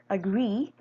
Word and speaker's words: agree: in the ultimate position in this word agree the syllable in the ultimate position this one has the monong E which is a heavy vowel as explained in the stress placement algorithm the lexical stress is placed on the heavy syllable so the